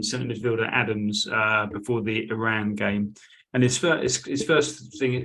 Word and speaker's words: Iran: midfielder Adams before the Iran game. And his first thing, he said, well, I have two things. First one's not really a question, it's just a point. Our country is pronounced Iran, not Iran.